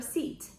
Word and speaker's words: seat: we say take your seat or i have an isle seat set is the verb we say sit down the pronunciation is different seat set it's similar to sheep ship one-way trip and round